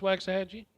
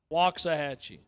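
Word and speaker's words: Waxahachie: Is it not pronounced waxy? Waxahhatchee.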